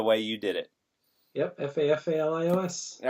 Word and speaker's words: Fafalios: Spell that for everybody. Fafalios. I'm glad I would have been like Fafalios. Fafalios. It's a good rhythm the way you did it. Yep, Fafalios.